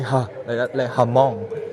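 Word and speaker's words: Hmong: o n g uh in english the h is silent right but here we say hamong and we had a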